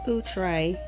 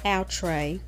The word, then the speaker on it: Outre: i have shay by utre and it is pronounced utray not outre i was on a conference call with them